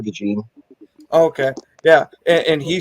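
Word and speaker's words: DeJean: get him but yeah he pronounces it Cooper de jeene okay yeah and he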